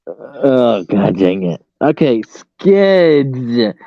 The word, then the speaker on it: Skids: You're not supposed Yeah. to put a P. Oh, okay, Skids, not Skips.